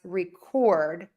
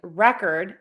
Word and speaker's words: record: can pronounce it as record, which is the verb. What's the difference? In record, syllable number 1 is higher in pitch, longer vowel, and louder.